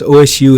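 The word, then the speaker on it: osu!: If you're going to make a video for OSU players, OSU is commonly pronounced OSU. Thank you for that. I always say OSU, OSU.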